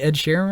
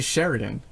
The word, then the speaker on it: Sheeran: Did I not say Ed Sheeran right? No, you never say his name right. Never. Not once. Oh, what? You always say Sheridan.